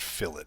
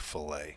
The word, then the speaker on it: fillet: to it okay now every time I've watched a video it's always pronounced fill it but when I look at that word I think filet so get into an